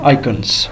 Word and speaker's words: icons: ये बेसिकली कहलाते हैं आइकन्स। इनको कहा जाता है आइकन्स, कुछ लोग इनको आइकॉन्स भी प्रोनाउंस करते हैं, इसमें कोई मसला नहीं है, आप इसको आइकन पढ़ें, आइकॉन पढ़ें, इट डज़ नॉट मैटर।